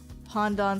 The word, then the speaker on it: pandan: be like like um pondon sounds pondon sounds like oh it's spelled pandan um it's like the